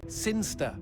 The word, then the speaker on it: Sinchester: It's pronounced Sinster. How do you know? My cousin's from Sinster. Never mind.